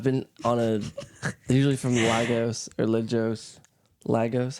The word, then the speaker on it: Lagos: Lagos. You do want to stress on the first syllable. You do want to stress on the first syllable, guys. Lagos. Almost sounds like Legos.